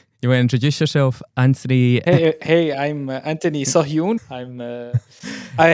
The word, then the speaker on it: Anthony: So before we hit record, Anthony was telling us his preferred way to pronounce his first name is Anthony. That's the way my mother calls me.